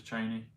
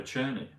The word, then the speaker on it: Cheney: He also did another mispronunciation. He was talking about Liz. I think it's Liz. Is it Liz Cheney? He called her Cherney. Liz Cherney. Cheney's 60, but Cherney is 94.